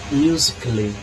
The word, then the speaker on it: musically: Musically. Eu não pronunciei musically.